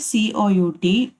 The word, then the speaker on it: cout: Then the identifier COUT, pronounced as Cout, is a predefined object.